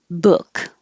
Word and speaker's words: book: manhattan manhattan book the vowel is uh which is slightly lower than ooh the back of the tongue maybe more of the middle your tongue should create tension so you should feel more tension under your on your chin whatever this part when